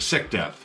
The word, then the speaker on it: Sicdeth: go for heavier songs like Sick Death, which that is spelled Sicdeth.